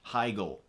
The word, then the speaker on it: Heigl: She came up and got the award, and she just like leans into the microphone and goes, "It's pronounced Heigl."